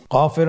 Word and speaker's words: ك: নম্বর হরফটির নাম কাফ কাফ উচ্চারণের ক্ষেত্রে অবশ্যই পাতলা করে উচ্চারণ করতে হবে এবং তিন আলিফ টেনে পড়তে হবে।